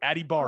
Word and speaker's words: Adebawore: I didn't really pay that much attention, but this is what the pronunciation guide said for his brother. Adebawore.